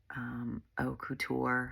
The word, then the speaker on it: haute couture: of like high fashion, like haute couture, I think is how you pronounce it. Like Haute and then couture.